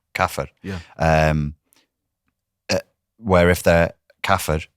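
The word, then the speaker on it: كافر: Kafir. Kafir.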